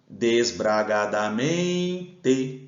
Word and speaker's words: desbragadamente: Desbragadamente. A sílaba que ficou mais forte foi o men. Ela é paroxítona.